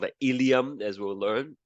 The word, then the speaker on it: ilium: There's a bone there called the ilium, as we'll learn, not to be confused with the digestive system ilium. They spells differently, pronounced the same.